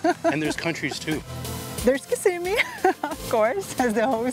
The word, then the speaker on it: Kissimmee: Kissimmee. The right pronunciation is Kissimmee. Kissimmee.